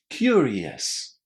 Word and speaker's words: curious: So, we're saying yes. Yes. Almost exactly like the word yes. Curious. Curious. There's basically a group of adjectives that end in io us where we pronounce this ending as yes. For example, various, previous, hilarious, curious.